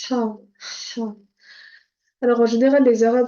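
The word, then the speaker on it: ح: C'est ha. Alors, ça doit venir vraiment du fond de la gorge. Ha, ha.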